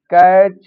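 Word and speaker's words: catch: एक रूल और है, यदि टी के बाद सी एच आ जाता है तो टी साइलेंट होता है। जैसे वर्ड लिखा है बैच, कैच, मैच या वाच।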